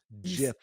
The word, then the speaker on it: GIF: GIF. If you sign a contract with Picture Gifts, Inc. It says in the fine print that you have to pronounce it with a hard G.